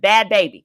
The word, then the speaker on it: Bhad Bhabie: Bhad Bhabie. That's what it is. Bhad Bhabie. Sorry. Not Barbie, baby.